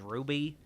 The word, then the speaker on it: RWBY: I guess you maybe pronounce it as Ruby.